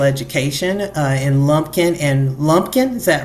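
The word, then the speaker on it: Lumpkin: um in special education uh in Lumpin and Lumpin. Is that right? Did I say it right? Yes, ma'am. In Lumpin and White counties in Georgia.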